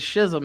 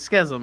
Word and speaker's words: schism: I said schism. It's schism, actually, but whatever.